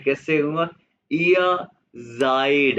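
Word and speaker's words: seid: कहोगे कहते इया तो मैं कैसे कहूंगा इया जायड ये क्या है?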